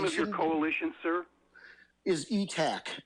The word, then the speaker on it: ETAC: I would pronounce it ITAC instead of ETAC, because people might think it starts with E instead of I.